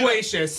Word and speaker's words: loquacious: It's like, L-O-Q. It's like LaQuisha, but Acious.